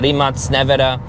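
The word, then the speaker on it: Rimac Nevera: And I know some of you say, the Rimac Navara, or the proper way to pronounce it, the Rimac Navara, is the world's quickest production car.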